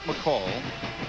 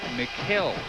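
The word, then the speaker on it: Mikal: And McKell wanted it known that his name has been mispronounced his entire career. It's not McCall. It's not Michael. It's not McHale. It's Mikkel, although it's spelled M-I-K-A-L.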